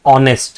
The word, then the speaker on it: honest: H is not a vowel, but see, when you pronounce this word, it says honest, right?